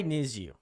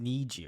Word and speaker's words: NiziU: Um, why nizu? Uh, pronounced niju. Okay, I thought it was nizu for some reason.